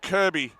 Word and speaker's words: Kirkby: Leilani and Jalia with with a bit of work to do, but Ariana Kirby spelled Kirkby normally pronounced Kirby, but apologies to the family.